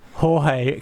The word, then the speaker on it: Jorge: Going back to the MotoRap, and I had Pete text in, says that I pronounce Jorge correctly for George.